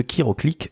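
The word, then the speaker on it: Chiroclic: chers amis Kiro de kiroclick le logiciel le cabinet 100 % kiropratique si vous ne connaissez pas encore kiroclic ça s'écrit C H i r o C l I c et vous pouvez aller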